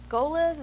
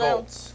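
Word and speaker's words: Goelz: Like the guy that does Gonzo, Golas, is that his name? Dave Golas? I see it when it's spelled. Dave Goltz. Goltz or something. It's an odd spelled G-O-E-L-S. Pronounce it L-Z.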